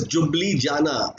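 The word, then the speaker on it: Ljubljana: Answer is जुब्लिजाना, L silent होता है, option number A is right answer.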